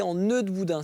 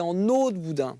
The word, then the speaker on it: en eau de boudin: on on pense souvent on prononce mal que c'est en nœud de boudin c'est en eau de boudin en e de boudin et un jour dans